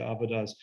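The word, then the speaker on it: עבודה: the Hebrew Bible called avodah, and it's pronounced different ways, but avodah is the common pronunciation, and it actually means three different things.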